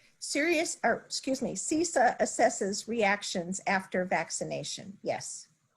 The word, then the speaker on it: CISA: Going back to if I pronounce this correctly, is it CISA? Correct.